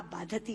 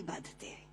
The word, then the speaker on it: बाधते: दे रहा है, क्योंकि बाधती शब्द का अशुद्ध उच्चारण आपने किया है। ये शब्द बाधते होना चाहिए।